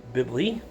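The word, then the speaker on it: Bilby: Bibley. That's how you pronounce that.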